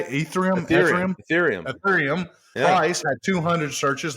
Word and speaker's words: Ethereum: Ethereum.